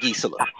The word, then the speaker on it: Gisela: I'm like, in no planet is that Gisela. It sounds like Giselle. If I was to look at that on a piece of paper, there's no way that I can make syllables and make that shit go Gisela, but that's what she says her name is, so I have to call her the name.